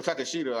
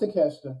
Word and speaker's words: Takeshita: I guess I don't know when is he gonna fight Takeshita or Takashita. I'm trying to think how to say this. Keep forget how to say his name. Takashita. It's Takeshita.